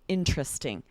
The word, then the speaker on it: interesting: those tricky ones where most native speakers are going to say interested, right? We're changing it to 3 syllables, or interesting, making it 3 syllables, partially because it's quicker. But so this is so common that it does sound off to us. It sounds like a mistake to pronounce each syllable and say interested or interesting, right?